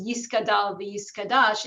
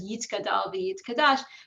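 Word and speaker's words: יִתְגַּדַּל וְיִתְקַדַּשׁ: know, and that's why a common popular depiction of people saying the Kaddish is Yiskadal v'Yiskadash instead of Yitzkadal v'Yitzkadash, because many elderly people, even today, still use those pronunciations.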